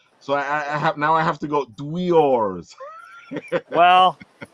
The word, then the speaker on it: Dweores: it's called Dweors. Dweors. Shen, I feel you because my Brooklyn accent was making me say dwarves. So I have to go Dweors.